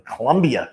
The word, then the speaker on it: Colombia: world at the historic Colombia City Theater let me say that again the Colombia City Theater let me make sure I pronounced the A on the end of Colombia uh 4916 reer Avenue South the home of reineer Avenue radio.